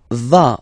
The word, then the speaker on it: vas: Tu vas. Final S doesn't exist.